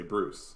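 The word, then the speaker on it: brousse: and it turns out a French dual land is spelled B-R-O-U-S-S-E, which is pretty close to Bruce. So it turns out in French, if you want to describe a scrub, you just say Bruce.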